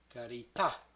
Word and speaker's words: carità: So when the stress is on the last syllable, let the word slide very easily and then stop abruptly. Here's an example. Carità.